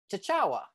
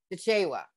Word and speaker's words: Chichewa: the process translated into chachawa you know tell me how i pronounce it again lee chichewa so you almost got it i almost had it